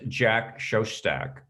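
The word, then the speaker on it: Jack Szostak: remind me of his name his name was jack shoshtak that's the proper pronunciation i would have said it wrong that's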